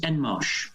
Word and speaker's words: Enmarch: surname uh my brother the surname is en marsh and marsh rather than on more i'll give it a bit of a french twang there nobody ever gets